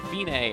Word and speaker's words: fine: to like hundred two measures it looks like fine but it's pronounced Tignes and it means it's the end the finish